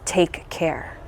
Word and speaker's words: Takare: And now she has this approach called the Takare approach, which if you spell it out or sound it out, it's take care.